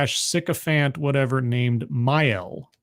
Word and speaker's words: Mael: And he's put under 24-hour guard with this priest / sycophant, whatever, named Mael, Mael, I think is how it's pronounced.